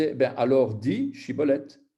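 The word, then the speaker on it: שיבולת: Il lui disait « Ben alors dis Shibolet ». Et il disait « Sibolet ». C'est comme s'il avait un pronom, un cheveu sur la langue, en fait.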